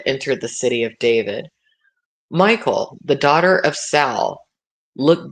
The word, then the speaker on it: Michal: It might be pronounced Michelle, but it's spelled Michal in this version of the Bible.